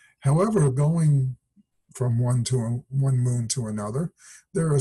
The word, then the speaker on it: Io: planet Mercury and finally that's how you pronounce that by the way I don't think it's called IO but AO has many active volcanoes